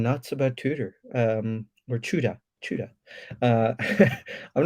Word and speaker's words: Tudor: got so many comments people tell me it's pronounced chuda it's it's pronounced chuda not tuda i mean it's just it's just a pronunciation